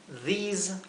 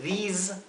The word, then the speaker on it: these: These are. Estos son. Those are. Those are. Esos son o aquellos son. Fíjense, these, those. La S no es la S suave, no es these, those, es these, those.